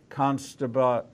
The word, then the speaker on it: Costabile: the Underworld live from the Philippines, is Costabile. Say it for me. Costabile. Costabile, but it's spelled.